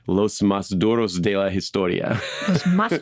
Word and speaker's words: Los Más Duros: You have to roll some R's in there, something. Los Más Duros.